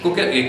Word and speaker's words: Coquelin: stato fatto per Coquelin, sentite che pronuncia francese, eh? Coquelin, che è stato il più grande attore dell'Ottocento francese.